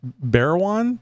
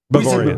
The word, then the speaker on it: Bawarrion: And is it Barrowan? Barrowan? Say it for me. I'm not saying it right. Bavarian.